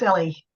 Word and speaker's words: Ellie: Is it El or Ellie? How do you pronounce it? Hi, it's Ellie.